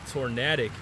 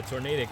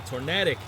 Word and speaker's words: Tornadic: Taking on Steven Mason in tornatic. Man, I mispronounced it in the intro again. It's just the natural way of saying uh Tornadic out in this region where I am. But uh Tornadic here ready to take